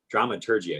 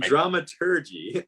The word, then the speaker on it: dramaturgy: in drama turkey that drama turkey I see keep saying the wrong G pronunciation you want to know the German route and dramaturgy um we learned about